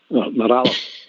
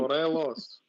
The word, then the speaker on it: Morelos: Could you pronounce for centre forward, please? Morales.